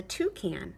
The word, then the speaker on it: toucan: bird is called a toucan it rhymes with you can it has a big